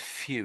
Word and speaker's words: few: And again when I'm saying few, can you hear W? They're not really. So there's no there's no W. It's sort of a silent sound.